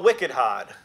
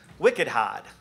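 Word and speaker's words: wicked hard: of things which I call Wicked hod and it has to be pronounced in that way because this is a Boston localism where I've been based Wicked hod which Wicked just means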